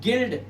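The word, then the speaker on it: guild: ऐसे इसे पढ़ते हैं गिल्ड यू साइलेंट।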